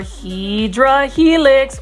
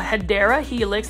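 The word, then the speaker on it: Hedera helix: guys it's our favorite it's our hedra helix or what you would call a hadera helix that's the correct way to pronounce it this is in English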